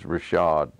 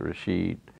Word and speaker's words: Rashid: name is George ration we pronounced turds Rashaad instead of Rashid and that came out of Pickens I don't know how that you noticed people pronouncing it over there nowadays is it Rashad or is it Rashid so with Georg Rasch